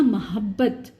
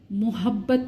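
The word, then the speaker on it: محبت: इसी तरह ये आपको सरप्राइज करेगा, मोहब्बत, मोहब्बत नहीं है, इस पे पेश नहीं है, मीम जो है वो मफ्तूह है।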